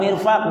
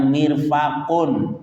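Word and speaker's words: مرفق: Wal mirfaq bi kasril mim wa fathil fa. Bacanya mirfaqun, artinya sikut.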